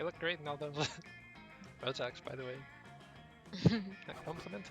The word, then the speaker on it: Rorschach: Ravi, surely you must understand that this isn't a legitimate I'm not sure how to pronounce that. Rorschach, It's just called Rorschach.